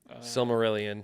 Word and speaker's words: Silmarillion: Silmarillion.